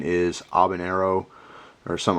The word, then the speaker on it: habanero: I always say uh habanero it's just how I say it I believe the pron the correct uh pronunciation is abanero or something like that I know the H isn't really pronounced but anyway it's just